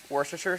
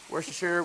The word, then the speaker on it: Worcestershire: going to add just a couple splashes of Worcestershire sauce okay that's how you say it got it Worcestershire Worcestershire War sauce there's tons of ways to